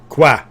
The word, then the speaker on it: quoi: Quoi? Q-U-O-I. I'll spell it on the Discord.